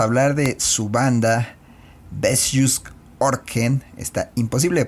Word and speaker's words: Ørken: Eso es como una O con una diagonal cruzada. Entonces pues es como U. Le preguntamos cómo se pronuncia y es como O, como una especie de U, ya saben.